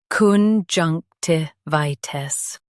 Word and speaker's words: conjunctivitis: Stress junk and keep vi clear. The t is soft.